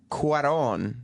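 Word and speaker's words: Cuarón: Eric Weber of NECN writes as Cuaron that's how you say his name the director as what on spells out in His intro life and space is impossible.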